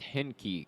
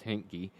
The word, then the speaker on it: Henke: I have some people I know with that last name, or the name spelled like that, and that's how they always pronounce it, as Hinky.